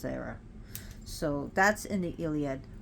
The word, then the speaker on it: Hera: She's pronounced Hera."